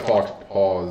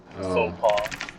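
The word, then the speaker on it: faux pas: I don't know if fox paw is right. Fox paw. I'm not even going to spell that. Faux paw. Faux paw, that's what it is.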